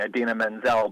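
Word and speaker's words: Idina Menzel: Bollywood or Pakistani performance artist the name he butchered I mean her name is very interesting Aden Menzel but you know you go to rehearsal you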